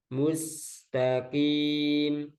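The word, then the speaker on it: الْمُسْتَقِيمَ: ihdina siroto al mustaqim mus nah, ini tipis mus mencucu ya kalau ada doma itu mencucu mu mustaqim takim kim jangan kim jangan ada udara nah ini harus latihan yang masih ada udara kim itu beda huruf nanti kaf jadinya kim jadinya mustaqim kim nah, pakai qaf ihdinas siratal mustaqim siratal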